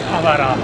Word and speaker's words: Akihabara: Ya hemos llegado aquí a Akihabara, porque lo pronuncian así.